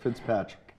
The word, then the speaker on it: Fitzpatrick: Did I say it right? You said it absolutely correct, Fitzpatrick.